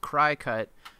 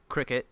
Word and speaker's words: Cricut: die-cutting the machine so I had always thought this was pronounced cry cut which rhymes with die cut but apparently it is actually Cricut I thought I'd give